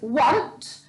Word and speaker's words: want: rule this week is the ah sound spell with an a so for example this one is want so we've got want but it's spelled with an a okay so we've got